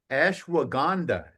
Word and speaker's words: Ashwagandha: Ashwagandha.